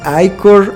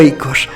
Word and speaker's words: ichor: Esta palabra Ichor es pronunciada de diferentes formas, algunos le dicen Ichor, otros le dicen Iker, pero yo le digo Ichor.